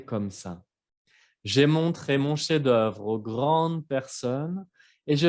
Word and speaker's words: chef d'œuvre: Chef d'œuvre, obra maestra. Chef, la F no se escucha. Chef d'œuvre. Hay dos sílabas.